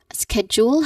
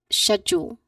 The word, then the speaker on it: schedule: Schedule has two um pronunciation. There are two pronunciations that I've provided. We have first schedule like schedule. So that is the first um pronunciation schedule. We use this pronunciation usually on um British English. This is a British English pronunciation for this word schedule. The US counterpart is schedule.